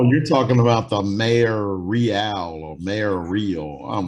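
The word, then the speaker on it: Reál: I totally forgot what her campaign was about anyways, but real change. Oh my god. Yeah, that's what it was. Her last name is Real or Real, but it's spelled R-E-A-L, and that was her slogan, real change.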